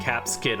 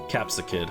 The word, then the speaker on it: Capsakid: There are definitely some other really tiny Pokemon, but I think Flabebe and Caps Kid are like the worst. Capsakid. I was saying it wrong. It's Caps-a-Kid.